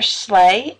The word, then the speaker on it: Slay: My name is Professor Slay. It is pronounced like, you know, Santa on a sleigh, which is very fitting considering the weather. No, it's not spelled that way.